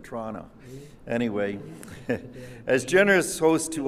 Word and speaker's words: Toronto: But at that time, the area was pronounced by the Wendats to run to. But as you know, we all natives now of Toronto often just pronounce it Toronto.